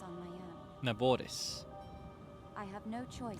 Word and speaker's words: Naboris: Unfortunately, I cannot appease Naboris on my own. Naboris, I have no choice. I've been saying it wrong this whole time. Naboris, I'll tap the R from now on.